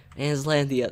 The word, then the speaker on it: Aslandier: Aslandia, that's how you say it.